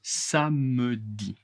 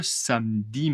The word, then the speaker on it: samedi: Le samedi, attention, samedi est la prononciation correcte. Beaucoup beaucoup de français, la majorité en général en France, on ignore le e. Samedi. Samedi. Samedi. Je ne pronce pas e.